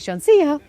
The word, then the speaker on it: Sean Seah: So Sean Seah, and he's taught me how to say his name by saying Sean Seah, is the SVP of Strategy, Technology and Innovation.